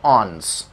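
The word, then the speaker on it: onus: miss pronounce नहीं करेंगे, इसका सही प्रोनाउंसिएशन होता है ऑन्स, ऑन्स, जी हाँ बिल्कुल वैसा जैसे आप ये वर्ड पढ़ते होंगे ऑन्स, ठीक है, ये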